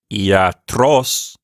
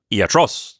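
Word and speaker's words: ἰατρός: run over the alpha both Iota and Alpha both of those are vowels that could be long or short and so in this particular case they're marked because they are of long duration so we want to make sure that those macrons are there it's not iatros it's not short like that it's iatros so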